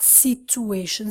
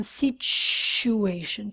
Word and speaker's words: situation: speak Italian or Portuguese students a situation wrong not situation situation cha-cha-cha-cha-cha situation so this is a